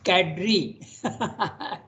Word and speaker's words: cadre: Google they will say that it is you pronounce Cadre okay we used to pronounced it earlier in the kader is a French word but Cadre that means